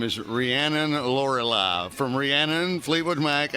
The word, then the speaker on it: Rhiannon: all Rihanna from Fleetwood Mac. I like Rhiannon. Rhiannon, I should have said it right.